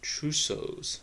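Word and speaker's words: Trousseau: double check the true Souls so it's actually pronounced as trusos sign and that's is due to hypokalemia which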